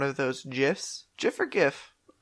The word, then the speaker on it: GIF: GIF or GIF? It's definitely GIF. Because it's a G stands for graphic. Well, and also like just hard G is way more common than soft G.